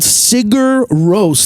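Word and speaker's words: Sigur Rós: say it again one more time they're called sigur rose they're like a norwegian band it's spelled like s-i-g-u-r-r they're like a post-rock band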